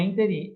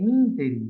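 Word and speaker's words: ínterim: A gente fala interim, mas o correto é interim. É proparoxítona. Errei mesmo. Foi mal. Errei uma, tá bom? O professor também erra. Então, não é interim, é interim, né?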